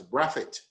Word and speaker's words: Brathwaite: Now let me stay with the name Brathwaite. Indeed, with a Barbadian pronunciation, it would have been said as Braffett.